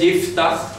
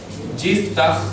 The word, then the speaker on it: Yiftach: Su nombre es Yiftach, ¿ok? Yiftach, así es como se debería escribir la pronunciación en castellano corriente, Yiftach, y vamos a explicar